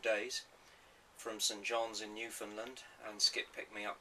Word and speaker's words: Newfoundland: Hitchhiked across Newfoundland, as I'm told you should pronounce it.